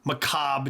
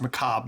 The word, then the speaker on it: macabre: local legends urban legends macabre tales and yes it's pronounced macabre not macabre uh let's see what's